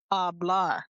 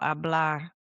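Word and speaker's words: hablar: Ablah. No. Ablah. That's right. H is silent.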